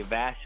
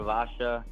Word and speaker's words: Vasha: So it's kind of pronounced either way, so I kind of shortened it to Vasha or Vasha.